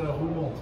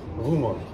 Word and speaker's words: Roermond: Just a Roermond. Roermond. Roermond. Roermond. Roermond. Thank you very much. Thank you. Bye bye. Du hattest recht. Roermond. 맞네. 저 독일식 발음으로만 로어몬트였어요.